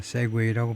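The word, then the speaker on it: segue: 아 한 가지 노래에서 다른 것으로 넘어가다가 세구웨인데 발음이 세구웨이이 미국과 영국이다. 세웨이라고 발음을 하네요.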